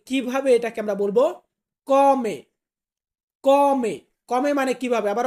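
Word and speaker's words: come: তো কিভাবে, এটাকে আমরা বলবো কমে। কমে। কমে মানে কিভাবে। আবার অনেক বাক্যর ক্ষেত্রে আমরা এটাকে উচ্চারণ মানে সেম শব্দটাকেই আমরা উচ্চারণ করি কমে।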